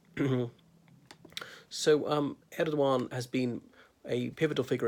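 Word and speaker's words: Erdoğan: doc I on the the G with a breve over in in Turkish is silenced mm-hmm so um ed WOM has been a pivotal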